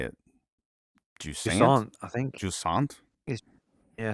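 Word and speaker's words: Jusant: it jant I think jant yeah I think it's like French jant jant it's spelled j u s a NT it's a game about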